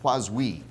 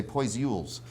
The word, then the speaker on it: Poiseuille: And it's because of the law of physics, named after a guy named Poiseuille. It's spelled with a whole lot of E's and I's and L's, and people say Poiseuilles.